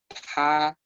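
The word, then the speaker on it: 她: Este carácter que acabo de escribir es ella y se pronuncia igual a él. O sea, ella y él se pronuncian igual. Se pronuncia ta.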